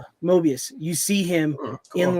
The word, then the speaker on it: Mobius: And what is it, Morbius? What is it? How do you say his name? Mobius.